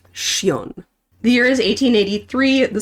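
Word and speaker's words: Sjón: to, but The Blue Fox by Cion. It's actually pronounced Shion.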